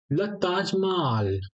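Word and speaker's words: Taj Mahal: ताज महल ठीक है ताज माल ठीक है एच साइलेंट रहता है फ्रेंच में ओके जहां भी एच होगा वो साइलेंट ही आप उसे कंसीडर कर लीजिए फश में ठीक है ताज माल माल ए हम लोग ने बिल्कुल भी प्रोनाउंस नहीं किया है कभी-कभी पहले ऐसा होता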